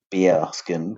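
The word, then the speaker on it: Baerskin: It's spelled BAER, bearskin tactical hoodie.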